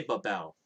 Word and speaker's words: Babel: exactly is written, but it's the way I pronounce it. I say Babel, and the reason why I say Babel is